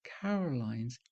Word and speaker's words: Carolyne: So I decided to spell my name C A R O L Y N E. Unfortunately, it can be pronounced Carolyn as well as Caroline, and I'm often called by the former.